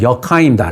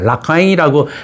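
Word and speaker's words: 라카인: 현지어로 분명히 이건 역하잉입니다. 라카잉이라고 많이 언론들이 얘기하는데 이건 보면 역하잉주고요.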